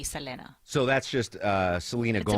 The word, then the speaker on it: Selena: It's it's anglicized to Selena, right? Most people say Selena, even though the correct way would be Selena.